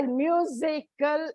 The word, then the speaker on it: musical: word that's why it comes on the second syllable by musical is only a tri-syllabic word that is why